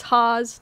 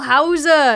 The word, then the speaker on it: Hause: it my whole life it's Haws like cars okay but I did